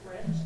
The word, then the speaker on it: wretched: Okay, so I'm looking at the script, and yes, that ED is not stressed, so thank you for that.